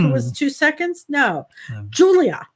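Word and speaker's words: Giulia: was two seconds no julia julia but it's spelled with the g that's right g g h or something g no it's g i u u l i a yeah julia so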